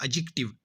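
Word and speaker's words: adjective: English grammar का एक rule है कि ए और जे के दरमियान अगर डी आ जाए तो वो डी साइलेंट होता है, तो क्या हो जाएगा एडजेक्टिव।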